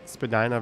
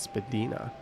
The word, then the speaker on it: Spadina: You heard that there used to be a north-south divide of residents who pronounced it Spadina versus Spadina.